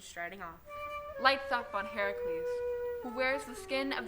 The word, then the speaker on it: Heracles: it happened either but it's heracles not hercules something got lost in